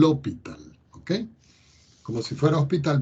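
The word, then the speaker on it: L'Hôpital: se escribe así l' un sombrerito en el lado hospital se pronuncia así el hospital que como si fuera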